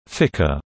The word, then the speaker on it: FCR: the flight control room FCR pronounced Ficker the controllers are experts